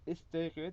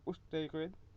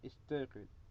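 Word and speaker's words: اِسْتَيْقِظْ: And we pronounce istayqid instead of ustayqid because the second last letter, the qaf, has a qasr on it. So istayqid.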